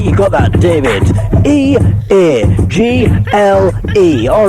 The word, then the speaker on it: Eagle: Eagle like the bird.